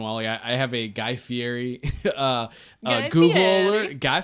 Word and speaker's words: Fieri: Maybe that is how you say his name. No, you say it, Fieri. Fieri.